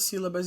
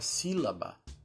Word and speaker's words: sílaba: porque em sua divisão produzimos 3 sons: si, lá, ba. Percebam que ela possui um acento na letra I, que torna o som mais forte. Sílaba.